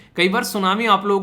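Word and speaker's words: tsunami: मिलती है कई बार सुनामी आप लोगों को देखने को मिलती है जिसको तो सुनामी टी साइलेंट होता है समान भी होता है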